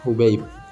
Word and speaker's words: Hubaib: awwaluhu maftuhatun nah disini Hubert bacanya hub yaitu dengan di dibaca dhommah hanya dan yanya mati hubaib Ibnu habibin vivat ilmu